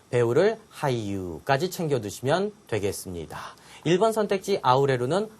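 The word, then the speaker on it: 俳優: 일본어 우승 어떻게 발음해요? 우승을 유쇼, 배우를 하이유까지 챙겨두시면 되겠습니다.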